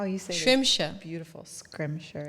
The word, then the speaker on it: Schrimsher: how you sayri beautiful scrimshire it's yeah well tell me where that came from it is scrimshire gosh it's Scottish scrimshire now you tell me